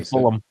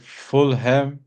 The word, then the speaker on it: Fulham: But isn't like Fulham the team, isn't it pronounced Fulham? Everybody says Fulham. Yeah, Fulham. Yeah, you don't say like West Ham, but Fulham. It's like Fullum. Yeah. Not H-A.